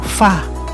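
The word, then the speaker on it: 发: para sa walo na binibigkas bilang ba ay parang salita para sa kasaganahan na binibigkas bilang fa maging ang pagbubukas ng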